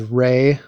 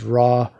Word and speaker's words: Ra: rey but you know it's often misread as raw anyway so rey is